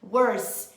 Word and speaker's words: worse: muita gente perguntando se a pronúncia dessas duas palavrinhas é igual e a resposta é não nós falamos essas palavras ao longo do vídeo e deu para perceber que a pronúncia Dinho Wars não é exatamente igual a pronúncia the worst tá Wars e esse som de s no final né worse worst tem esses hão-de ter no final gente que tava acontecendo